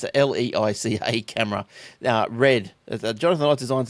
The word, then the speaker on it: Leica: pronounce this right, but it's a leash. Leica. What is it, sorry? Leica. Leica. And, yeah. Like a glove. Yeah, well, I don't like it too much, but it's a Leica camera.